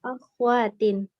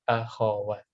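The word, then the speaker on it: أخوات: Kalau di Indonesia kan biasanya akhwat. Ya, ini akhwat ini Ya, ya, sebenarnya kurang tepat, tapi akhawat. Khoknya fathah.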